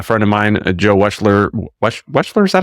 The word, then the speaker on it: Wechsler: Wechsler, is that how you pronounce it? Wechsler. Yeah, Wechsler.